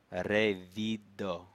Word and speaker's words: revido: Revido. Revido. Gis la revido. And remember, in Esperanto, the accent is on the second to last syllable.